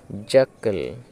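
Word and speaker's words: jackal: উচ্চারণটা বুঝতে পারলে যে সি এর পরে কে থাকার কারণে সি এর উচ্চারণটা সাইলেন্ট হবে, আর জ্যা, KAL ক্যাল, জ্যাকাল, জ্যাকাল মানে হচ্ছে শিয়াল।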